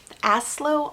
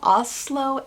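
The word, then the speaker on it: Aaslo: this book um also aslo oslo a-a-s-l-o oslo i think is how you're gonna uh i'm gonna say his name he is matthias who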